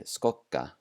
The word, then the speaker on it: skokka: And when it is doubled, it sounds more like a K. So here are some examples. Ek, ek, which means egg. Vekkur, vekkur, which means wall. And skokka, skokka, which means to jog.